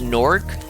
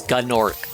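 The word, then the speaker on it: Gnorc: Uh the dragon here says Norc, but in the original dialogue for the original version, uh the voice actor says Gorc cuz the the joke is that all the all the older dragons pronounce it Gor because they're racist. Uh, but the the actual pronunciation is Nord.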